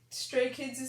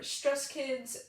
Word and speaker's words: Stray Kids: videos out there of stray kids' name being mispronounced and as a result it became a joke among stays and two of the common mispronunciations are stress kids and straight kids and the latter straight